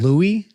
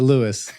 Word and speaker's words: Louis L'Amour: Or is it Lewis? Yes, it is. Okay. Yeah, I've never met him, but he's French in descent, so I would assume they probably do pronounce it Louis L'Amour.